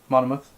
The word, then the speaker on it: Monmouth: Monmouth.